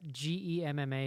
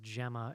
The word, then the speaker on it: Gemma: That GEMMA is pronounced Gemma and not Gemma, which is what I thought it was.